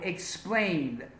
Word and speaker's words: explained: For example, explained, the verb explain. Explain ends in an N and an N sound. N is a voiced sound. So we pronounce this ED as a D.